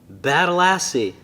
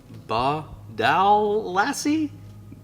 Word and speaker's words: Badalassi: And then he goes on to say, and you still have trouble saying Badalassi. It's pronounced exactly the same way it's spelled. So slow down and sound it out, brother.